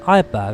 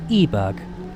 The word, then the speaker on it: Eiberg: I keep saying Eiberg, I think it's actually meant to be pronounced Eberg.